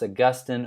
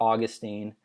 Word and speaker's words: Augustine: Augustine of Hippo uh could be pronounced Augustine or Augustine uh depending on where you're from uh but you'll hear